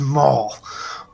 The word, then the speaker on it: Mole: sorry, I was thinking about moles. I didn't catch your actual name. Mole, mole, mole. It's pronounced Maul. And it's Lorg.